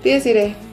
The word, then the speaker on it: Dies Irae: El año pasado pudimos conocer, y si no, corrígeme mi pronunciación, es Dies Irae. Ajá, Dies Irae.